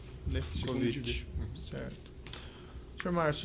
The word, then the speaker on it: Lewkowicz: Lefkovic. Esse é o primeiro W, é a som de F. Lefkovic.